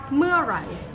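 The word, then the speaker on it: เมื่อไหร่: Meurai. Meurai. And how do you say that word mur? What's the easiest way to pronounce that?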